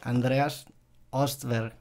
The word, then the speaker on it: Andreas Östberg: pronunciando bien tu nombre Andreas ostberg es la pronunciación que uso yo aquí porque es como fonético en suco sería Andreas